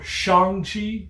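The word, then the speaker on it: Shang-Chi: sean and katie or shang chi and katie or shanghi in katy if i'm to pronounce it how he pronounces it in the movie their interactions are so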